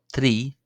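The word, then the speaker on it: trí: The number three is pronounced three. Not not like a trilled R, not three, not three or or not a broad R. as the slender are as we seen from the video on basic greetings it's pronounced three three the number four is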